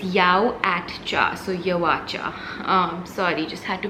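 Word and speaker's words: Yauatcha: my whole life guys it's actually not yaocha it's yawacha because yawacha means yao at cha so alan yao was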